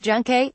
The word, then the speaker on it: El Yunque: El Yunque, pronounced Junque, has been an enormous source of pride in Puerto Rico and one of the main drivers of the island's tourism industry.